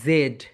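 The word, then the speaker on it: zed: Next one my dear soldiers, এটার দুইটা pronunciation রয়েছে, একটা হচ্ছে ব্রিটিশ, বি থেকে ব্রিটিশ, আর আরেকটা হচ্ছে American. Okay, British sound and American sound. British সাউন্ডে এটাকে বলা হয় জেড।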